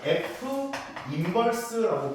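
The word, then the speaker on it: f⁻¹: 거꾸로 돌리게 되면은이 함수를 f인버스라고 부릅니다. -1이 아니고요. f인버스라고 읽어요.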